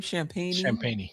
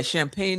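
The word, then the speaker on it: Champagnie: How do you pronounce his name? Champagne, yeah. Yeah, Champagne.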